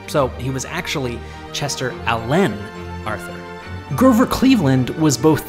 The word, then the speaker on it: Alan: Chester Alan Arthur chose to pronounce his middle name with the emphasis on the second syllable, so he was actually Chester Allen Arthur.